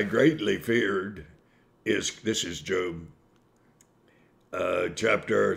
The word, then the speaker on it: Job: looking that book up it's actually job but it's pronounced job man's name uh i put forth